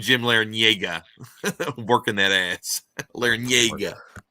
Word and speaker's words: Larrañaga: Larrañaga. You pronounced it right.